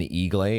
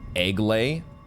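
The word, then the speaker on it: Eiglay: temple the Temple of I was saying eag I think somebody in the comments had hinted at that it might be pronounced egay which would kind of make sense if you think about the fact that snakes lay eggs haha it all makes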